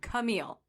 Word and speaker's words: Camille: or clam cile okay I said it wrong Camille what are you doing like you like chamia